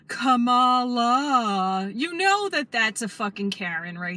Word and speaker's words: Kamala: uh corrected me that I was pronouncing her name wrong I said Camala or something and she was like Cala you know that that's